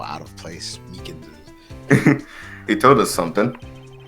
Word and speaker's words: Meekins: I keep getting his name wrong, calling him Meekly. Seeing these two characters He side by knows. side just lets you know how out of place Meekins is.